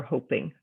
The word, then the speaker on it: hoping: Now, if I have hopping, H-O-P-P-I-N-G, as opposed to hoping, H-O-P-I-N-G, that double letter helps you understand whether you're going to pronounce it with a short vowel sound or a long vowel sound.